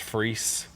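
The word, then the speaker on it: Freese: drummer's name is Josh I believe it's pronounced free F re e s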